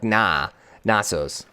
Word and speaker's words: Knossos: Gnosis? Knossos. Knossos, okay. Zanzibar I can say. Eretir? Knossos. Gnosis? Knossos. So like Knossos. Okay. So like the KN is like the K is silent.